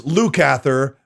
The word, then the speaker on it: Lukather: You can show your support by writing in the chat, Lukather, or it's Lukather, phonetically speaking, right there.